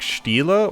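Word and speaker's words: stele: But every single time I've seen it, it's pronounced like Stila or Stila.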